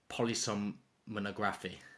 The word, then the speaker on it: polysomnography: It's pronounced polysomnography.